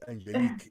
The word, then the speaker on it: Angelique: sí, o sea, Angelique, que se pronuncia así su nombre, ¿no? Creo que lo estoy Es pronunciando mal. Angelique. Angelique, es francesa.